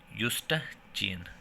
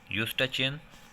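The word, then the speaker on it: Eustachian: इसे कहते हैं यूस्टाचियन, यूस्टाचियन ट्यूब, इसे क्या कहते हैं, यूस्टा, ई साइलेंट है, यूस्टाचियन ट्यूब, ठीक है।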